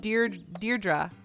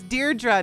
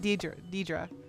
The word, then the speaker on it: Deirdre: My name is pronounced Deirdre. Oh, it's Deirdre, not Deirdre.